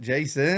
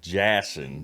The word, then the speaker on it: Jassen: you would say it Jason I mean to be honest it spelled like Jon Jon but my mother told me it was Jason but it's spelled j a SS n so you know I